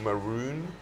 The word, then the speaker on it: Maroon: And Rachel is Rachel Maroon, is that how you pronounce her surname?